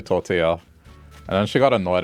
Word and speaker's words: tortilla: manager and she uh she would pronounce tortilla as tortilla. And I told her, "Oh yeah, it's actually tortilla."